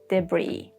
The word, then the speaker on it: debris: We have silent S in some situations, like in island, isle, and debris or daybreak.